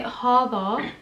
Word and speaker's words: Hodo: But you need to say Hardo and not Hodo.